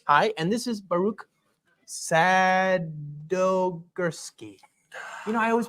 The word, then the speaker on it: Sadogursky: Hi, and this is Baruch Sadogursky. I always pronounce it Nailed it. Sadogursky.